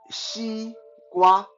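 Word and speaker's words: 西瓜: Watermelon in Mandarin is called xi gua. Xi gua, that's like XE. Xi is pronounced xi, and gua, GWA, like gua, like in guava.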